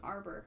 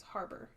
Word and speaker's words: Harbour: You're saying Arbor, but it's Harbour.